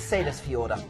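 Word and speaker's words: Seyðisfjörður: four main port so people say you can't pronounce this this is sailors fee order okay normally attend a port over and again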